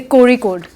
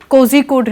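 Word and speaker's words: Kozhikode: और एडवाइजरी है कि जब आप कुछ केरला वर्ड देखते हो जेड एच के साथ जैसे कोरी कोड कोजी कोड नहीं है कोजी कोड नहीं है क्या बोलते हैं कोरी कोड है कोरी कोड कोरी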